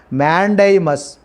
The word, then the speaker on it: mandamus: The pronunciation is mandamus.